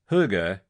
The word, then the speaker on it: Hygge: First of all, let's start with how you say it. pronounced huga.